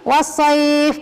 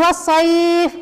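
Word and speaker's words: والصيف: Oh ya kadang-kadang kesalahan Tolong baca Disuruh ini wash voice kadang ke eh perginya jadi di kita dibacanya was so I was Yi bukan wassoif kadang ke emarang rakyat rasywah jadi wash voice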